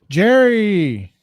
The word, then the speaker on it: Gerry: Jerry. Well, he was it's pronounced Gary back then, but it got his name got transformed to Jerry.